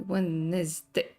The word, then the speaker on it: Wednesday: Wednesday. It's a a white and Daniel's day. How many D's we have in Wednesday? We have two D's. One of them is silent.